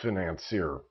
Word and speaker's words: financier: I guess the way that's spelled, it looks like financer, but I think I'll call it a financier.